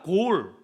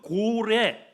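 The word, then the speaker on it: גֹּל: 이 맡기라고 하는 원어의 발음을 하면은 골이라고 하는 히브리어입니다. 한번 따라하세요. 골. 맡기라. 골. 그 골의 원형이 깔랄이라는 단어거든요.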